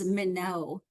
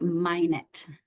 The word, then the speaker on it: Minot: for some reason I always thought it was minow that's how I always said it but then I was corrected actually that it's actually pronounced minet okay so Susan minet right and you can